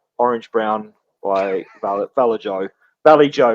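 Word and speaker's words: Vallejo: Valley Joe, right, Casey? That's how you pronounce it?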